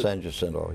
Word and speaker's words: San Jacinto: Is that how you pronounce it? San Jacinto, yeah.